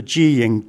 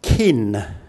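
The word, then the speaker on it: กิน: If we look at the Thai word to eat, the informal Thai word, gin cow. When this is transliterated, it becomes kin, like the kin in family, which is wrong.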